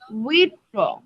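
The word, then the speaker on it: withdraw: তারপর আমরা দেখছি, সেটা হলো গিয়া উইথড্র, সবাই বলি উইথড্র, উইথ ব্রো, উইথ ব্রো, উইথড্র, উইথড্র। এটা কিন্তু আলাদা আলাদা উচ্চারণ করলে উইথ ড্র আসে, কিন্তু আমরা উচ্চারণ করবো উইথড্র, উইথ ব্রো, উইথ ব্রো, উইথড্র।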